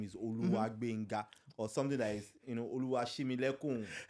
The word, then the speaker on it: Gbenga: My first name is Gbenga. Correct. You see? Growing up, I was called Gbenga. Now, that GB sound, only 2 cultures can pronounce it well. Yoruba and Ivorians.